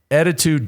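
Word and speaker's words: ettitude: you visit attitude and let me just spell it for you e t t i t u d e little bit like attitude attitude dot com slash the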